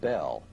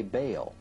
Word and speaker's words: Bel: Bell, spelled B-E-L, is usually pronounced Bell, but both Strong in his Hebrew dictionary and Feriabend in his prefer to say Baal.